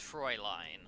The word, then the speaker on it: Fräulein: It's pronounced Fräulein.